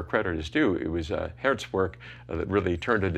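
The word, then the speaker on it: Geert: Anyway, he had to get back to his work, but then my friend Hert Bevan, Hert is actually, he's Belgian, his name is spelled G-E-E-R-T, he asked if I needed his help, and I said, sure, it'd be wonderful.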